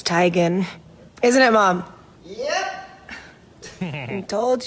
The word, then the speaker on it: Teigen: back in the day the first person who said Tegan you said I'm sorry it's actually tigon and then we're done